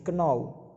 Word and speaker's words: know: Contohnya adalah no, kita tidak perlu membaca K jadi know.